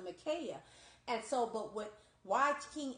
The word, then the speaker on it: Micaiah: There was a prophet named King Micaiah, I believe you pronounce it Micaiah.